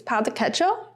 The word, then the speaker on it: pão de queijo: I think you say the J in Portuguese, pão de queijo.